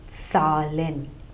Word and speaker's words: Zahlen: would be Sal and the plural would be Salin so number Sal and numbers would be Salin